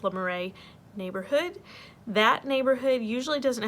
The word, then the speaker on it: Le Marais: I think it's pronounced Le Marais neighborhood.